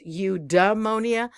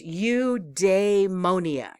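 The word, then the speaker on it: eudaimonia: pronunciation of udonia correct I think I said it as udonia but it's udonia udonia and that is Greek meaning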